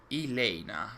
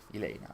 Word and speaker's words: Elena: I'm used to British people pronouncing it wrong. So it's Elena. Okay. I'll try and be better. Elena.